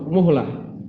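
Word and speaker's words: مهلة: Yang kedua terjadi setelah yang pertama tanpa selang waktu, muhlah. Tanpa selang waktu. Muhlah di cara bacanya bidommil mimi, dengan didhamma mimnya.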